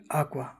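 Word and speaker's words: acca: वो बेरे आकवा I want to drink water आका आका यानी एच जो होता है उसको इटालियन में आका बोलते हैं और इस एच का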